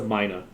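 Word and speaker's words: myna: So it's M-Y-N-A. I'll just... That's how you spell it. Yeah. It's a Mina.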